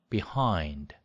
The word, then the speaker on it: behind: 우리가 그냥 behind 이렇게 알고 있는데 강세가 어디 있어요? behind, behind, hind에 있는데 이거를 우리처럼 behind라고 하는